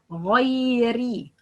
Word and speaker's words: غيري: Pronouncing the ghain as if it's cough. غيري غا. A lot of people pronounce غا like قا قا قا قا قا غيري غيري. Okay, that's wrong, but غا غيري غيري مغ.